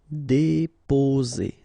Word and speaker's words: déposer: Déposer. Okay, only one S between two vowels, so the sound is Z. Déposer.